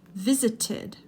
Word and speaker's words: visited: Visited, visited. Did you hear the additional syllable here? Because it ends in a T, it needs the id sound.